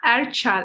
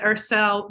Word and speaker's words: Erçel: It's Erçel actually in Turkish, but Ersel when we pronounce it in English.